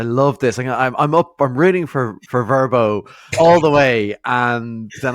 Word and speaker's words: Vrbo: I usually drag out the R. It's more of a Vrbo.